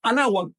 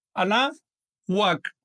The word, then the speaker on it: Anáhuac: Anáhuac se pronuncia así. Anáhuac. Pegando muy levemente o casi pegando los dientes superiores al labio inferior. No se pronuncia anáhuac, no es así. Esto es una consonante, la consonante W, que en náhuatl tiene una pronunciación un poquito cerrada.